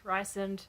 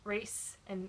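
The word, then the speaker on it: Rhysand: Rysand. I know it's pronounced Reese and Recent, but it's Rysand, so I don't care.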